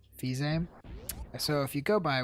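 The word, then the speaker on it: Fils-Aimé: Well, if you trust what Reggie Fils-Aime, or how would you pronounce his name, Matt? Fizame. Fils-Aime.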